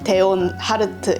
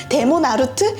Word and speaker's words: 데온 하르트: 데몬 하르트가 된 이유는 자네 이름이 무엇인가 이랬는데 데온 하르트 이랬는데 이제 발음 이슈로 사람들이 데몬 하르트? 마족보다 더 마족 같은 이름이잖아! 이러면서 데몬 하르트 생활을 하게 됩니다.